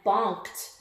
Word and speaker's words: bonked: He started to climb down and bonked the barber in the head. Bonked. Which one? Bonked, bonked, bonked. Bonked. Sounds like a T, even though it's not.